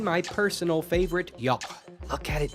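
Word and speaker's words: yogh: I know you're mostly just memeing, but yoch and 3 are different. Super different. Yoch got used in a lot of different ways, but the most important one is that voiceless velar fricative.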